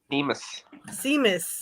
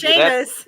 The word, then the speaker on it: Sheamus: Because Cornette calls him Seamus, yeah. I'm pretty sure it's Sheamus. He's just enunciating. He's just pronouncing it. Yeah. Seamus. As it's spelled, but it's not said that way in Ireland.